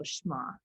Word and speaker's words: Shema: And so that prayer is called a Shema.